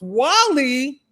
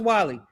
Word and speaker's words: Guale: This This says the guale pronounced Wall-E. It's pronounced Wall-E, y'all. Can we say it together? Wall-E. It's pronounced Wally.